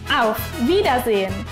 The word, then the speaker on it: Auf Wiedersehen: Entonces, en conjunto tenemos Auf Wiedersehen. Vamos a pronunciarlo, pero poco a poco.